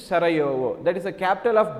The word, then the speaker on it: Sarajevo: Actually spelling is J-E-U-O, the pronunciation is Sarajevo.